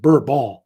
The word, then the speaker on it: Bourbon: And Henry was descended from this so-called Bourbon family, or they really pronounce it Bourbon.